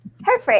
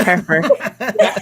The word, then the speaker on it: Hereford: Hertford. Isn't it Hertford? Did I mispronounce? Hertford? Hereford.